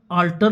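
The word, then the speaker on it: altar: ए एल टीई आर दोनों का उच्चारण उच्चारण अल्टर होता है लेकिन एक में ए आर है एक में ई आर है तो जो ल्टर है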